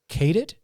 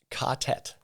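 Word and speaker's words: ka-tet: And so for everybody that doesn't know, and I'm being very vague here, and how do you pronounce is it Cadet or Catet? Catet.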